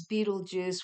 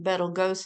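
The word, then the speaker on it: Betelgeuse: wink um and uh yes I know the proper pronunciation today is Beetle Juice which is after stupid movie um but years ago uh it used to be pronounced to my understanding Bal go and I believe there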